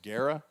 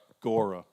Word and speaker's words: Gora: Is it Guerra? Gora. Okay. A.J.